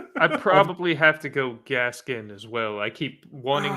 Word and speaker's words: Gaskin: don't disagree with that so long story short gaskin or moss oh geez give me gaskin just guess mine did i say it right you did but